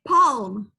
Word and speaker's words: palm: Pinky finger, and this part, the L in this word is silent, okay? Don't say palm.